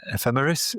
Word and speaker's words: ephemeris: And uh yeah, you your pronunciation is correct. Ephemeris is what these things are and ephemerities is what a lot of them are.